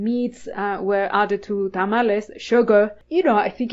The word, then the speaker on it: tamale: people and I'm like it's not tamales it's tamale it's notal yes we pronounce